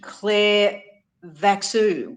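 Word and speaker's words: Clairvaux: Uh he owned the Claridan Claran mansion and he also owned Clare Vu uh which is spelled C L A I R VX U. So it's a French name which still stands today.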